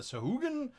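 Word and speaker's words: sahuagin: got the aquatic races, the Sahaugen, or as certain GMs pronounce it, the Sahugen.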